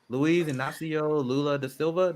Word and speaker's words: Luiz Inácio Lula da Silva: Luiz Inácio Lula da Silva.